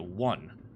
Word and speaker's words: one: It starts with a vowel, but the pronunciation doesn't start with a vowel. It starts with a W. 1.